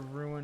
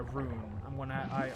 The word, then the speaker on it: rune: And there's a ruin over yonder, so I'm going to go over there. I'm sorry, a rune. I still, through all these years of seeing the word, always pronounce rune like ruin.